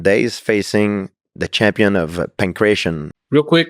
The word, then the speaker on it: pankration: fighter of modern days facing the champion of Pankration? Real quick, it's pronounced Pankration or Pankration.